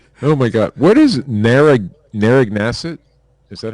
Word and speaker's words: Narragansett: What is Narragansett? Is that how you say it? Narragansett.